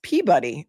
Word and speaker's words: Peabody: telling you if you want to get out of there to help you with your New England accent. It's pronounced Peabuddy.